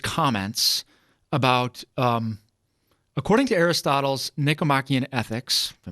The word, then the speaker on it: Nicomachean: According to Aristotle's Nicomachean Ethics, if I pronounce that right. Nicomachean, thank you.